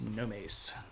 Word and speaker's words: Nomes: should probably write that it looks like gnomes but it's pronounced Gomes and these are basically